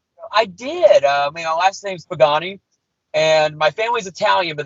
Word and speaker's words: Pagani: So it's not Pagani, it's Pagani. Pagani.